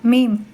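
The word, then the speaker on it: ميم: சொல்லும்போதே பாருங்க பின்னால் தான் தொடும் லாம் லாம் அடுத்த ஈசியான எழுத்து மீம் மேம் மேம் இதனை உச்சரிக்கும் போது இரு உதடுகளையும் சேர்க்க வேண்டும். பற்களை சேர்க்காமல் இருக்கணும். நாவை மேலே உயர்த்த வேண்டும்.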